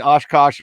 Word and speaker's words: OshKosh: a kid i mean oshkosh rhymes with josh i wore a lot